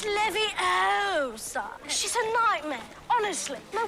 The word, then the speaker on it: Leviosa: You're saying it wrong. Leviosa.